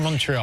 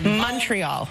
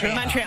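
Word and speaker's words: Montréal: you were born in Montreal and we're celebrating Montreal am I saying it wrong no you are the sweetest for even trying to say it we pronounce it Montreal like it's with a youal Montreal and we always know if an American's like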